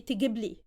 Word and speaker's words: تجيبلي: But when we add gibli, or when we add the li afterwards, the vowel sound is shortened, so we say تجيبلي.